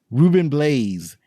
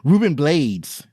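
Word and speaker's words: Rubén Blades: was Charming yeah so the next person is Ruben blades oh shoot I said it wrong Ruben blades that's his name and he plays Detective Danny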